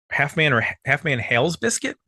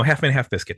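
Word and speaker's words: Half Man Half Biscuit: Half Man Hales Biscuit? No, Half Man, Half Biscuit. He just left off the F there.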